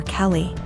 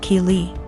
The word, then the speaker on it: Kei: was calling my daughter Kelly my daughter's name is key pronounced Kei so after school was